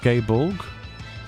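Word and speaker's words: Gáe Bolg: yeah oh the draon weapon is definitely pronounced gay Bor oh why is it different then is it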